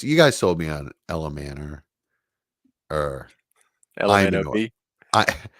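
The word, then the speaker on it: Ayomanor: Well, I guess you guys sold me on Ella Manor or Imanor. LMNOP? Imanor is how I've been told it's pronounced.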